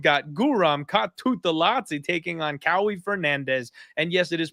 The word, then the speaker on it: Kauê: You have got Guram Kutateladze taking on Kauê Fernandes. And yes, it is pronounced Kauê Fernandes as opposed to Kauai, who I thought I was trying to say the first time.